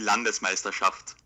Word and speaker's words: Landesmeisterschaft: Partner Landesmeisterschaft Day It's not Amateur that bad. Films. It's pretty close, yeah. Go ahead. No, it would be Landesmeisterschaft. Ooh, Okay. Landesmeisterschaft. Pretty close, I must say.